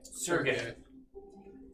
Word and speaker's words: Sergei: How do you say that word? Sergey? Sergey. Very Russian.